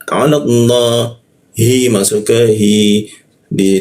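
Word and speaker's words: الله: Nah, la bertemu lafaz Allah. Ya, maka dibacanya dia ke arah O deh ya. Lam atas jadi dibaca ke arah O. Jadi cara bacanya seperti ini. Ala Allah keluarnya O tapi bibirnya A.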